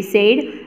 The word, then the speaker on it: said: वैसे ही BED बैड, FED फैड, LED lead, SAID सेड, RED रेड। वैसे सब कुछ ED और ED आ रहा है, बोलने के लिए तो सब सेम है, बैड, फेड, लेड, सेड और रेड। तो सेड जो है ना उसकी स्पेलिंग अलग डिफरेंट पड़ रही है।